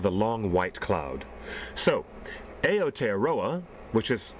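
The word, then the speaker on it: Aotearoa: is land of the long white cloud so aot aroa which is how it's pronounced in Maly aooa land of the long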